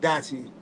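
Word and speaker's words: DYCHI: Let me bring back Dachi. Dachi is spelled D-Y-C-H-I. It stands for determine your character, have inspiration.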